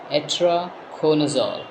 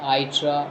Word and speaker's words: Itraconazole: discuss about atra chool so the pronunciation is atra chool it is not itra it is not itra it is atra corol the content it is